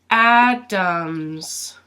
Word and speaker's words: Adams: little a big a so it's pronounced like this Adams Adams and what you'll hear is that this a actually sounds like a you ah Dum Dum Dums